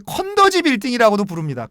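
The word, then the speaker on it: 肯德基: 그래서 중국 사람들은 예 컨 더지 빌딩 이라고도 부릅니다 컨 더지 한도 좌굴 예 중국 사람 중국 발음으로 이 컨 더 지가 캔터키 입니다 캔 특히 파 er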